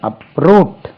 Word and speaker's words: uproot: uproot, ரூட்க்கு முன்னாலே uproot second syllable, root, uproot, uprooted.